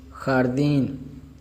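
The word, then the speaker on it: jardín: खा जब जे और ए मिला ये खे अलग खा के आवाज़ दे रहा है, और आगे डे है यानी कि आर, खाड़, खाड़। और डी आई और एन दीन, दीन। खारदीन, खारदीन, खारदीन।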